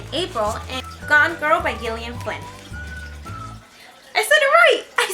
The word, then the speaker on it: Gillian Flynn: And the very last book I read in April is Gone Girl by Gillian Flynn.